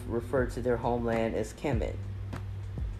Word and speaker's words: Kemet: to their Homeland as Kemet conventionally pronounced chemit k-e-m-e-t according to um the